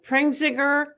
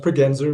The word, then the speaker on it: Pregenzer: I probably it's actually pronounced Penzer Witman. Sorry. Penser basically whitman and sale. So you got that wrong.